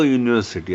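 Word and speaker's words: university: आणि अनिश्चित असल्यामुळे अ युनिव्हर्सिटी असं म्हटलय अन युनिव्ह्सिटी नाही कारण अ यासाठी घेतलाय कारण स्पेलिंग आपण म्हणताना युनिव्हर्सिटी यु हा वाय किंवा डब्ल सारखा का उच्चार आहे म्हणून अन युनिव्ह्सिटी होणार नाही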